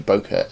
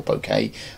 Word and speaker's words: bokeh: in this picture is the bokeh in the background or bouquet however you want to pronounce it it can be slightly